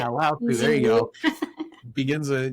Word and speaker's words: Lao Tzu: Lao Tzu.